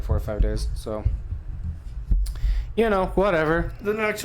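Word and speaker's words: Tso: do with clothes no it's pronounced so TS o so oh then we're talking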